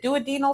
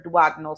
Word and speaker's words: duodenal: again who aren't familiar am I saying it right is it doal switch or dagal switch because I've heard it both ways I've heard it both ways but my surgeon always says do no switch okay and um my